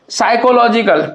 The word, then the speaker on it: psychological: और स्ट्रेस कहाँ लगा हुआ है, LOG पर।